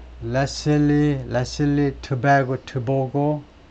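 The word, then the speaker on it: Letsile: 사람이 참여하기를 원했다 렛 레슬리 레슬리 베고 보고 보고고이 발음이 레슬리 겁니다 레리레리 toco 보나이 사람이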